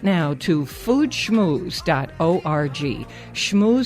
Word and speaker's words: Schmooze: Schmooze spelled like school, SCHMOOZE.